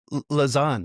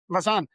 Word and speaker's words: Lausanne: Is that the right way to say L that, Dave? Lausanne, yeah. Lausanne, Switzerland. So, Dave, welcome to the show.